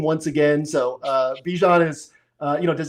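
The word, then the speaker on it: Bijan: So uh Bejan is uh you know, does he get the 30 plus points?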